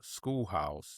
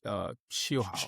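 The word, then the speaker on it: Scheelhaase: I was saying Schoolhouse, Nate Schoolhouse, but I mispronounced his name, and so I had to apologize for that. It's Shieldhouse. Shieldhouse. Yep, Shieldhouse. Guy with the Rams, right?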